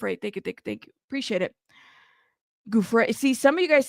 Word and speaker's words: Giuffre: Okay, Giuffre. Giuffre. See, now you're writing it different. Y'all are killing me. Okay. Jeff Ray.